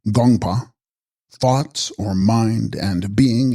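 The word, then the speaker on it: དགོངས་པ: Text, Gongspa, pronounced Gongpa, thoughts or mind, and being in the honorific form, divine mind.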